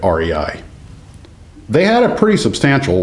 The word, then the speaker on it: Rei: to rei and i learned that's how you say it rei they had a pretty